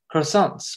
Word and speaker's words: croissants: Junior had real croissants, the kind where you aren't supposed to pronounce the R, from a little bakery at the edge of Fondren district.